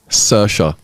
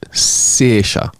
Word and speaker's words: Saoirse: There's actually two ways of pronouncing this. Yeah. The first way is Sersha, No chance of getting that. and the second one is Sersha. Sersha.